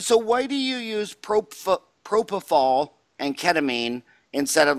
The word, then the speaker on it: propofol: a mnemonic for you remember the pronounciation nobody falls like propofol how's that nice you